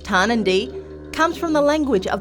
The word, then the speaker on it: Tarnanthi: The word Tarnanthi, pronounced Tarnanthi, comes from the language of the Kaurna people, the traditional owners of the Adelaide Plains.